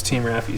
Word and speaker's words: Team Raffi: Someone tried to correct me on that and say that I was saying it wrong. I actually checked with Jason, the owner of ELLIOTT, and they told me it was Team Raffi.